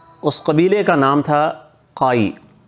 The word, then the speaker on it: قائی: اس قبیلے کا نام تھا قائی، بعض لوگ کائی بھی کہتے ہیں لیکن صحیح تلفظ کا موٹے قاف کے ساتھ ہے۔ اور قبیلے کے سردار